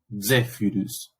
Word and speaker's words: Zephyrus: Y es el caso de Zephyrus, ¿sí? Que es una DS, Zephyrus, ¿sí? Esa Y, recuerden que técnicamente se pronuncia como una U francesa o una U alemana, ¿no?